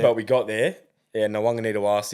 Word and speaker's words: Nawaqanitawase: Yeah, Nawaqanitawase, it's going to be a big loss for the game and Roosters.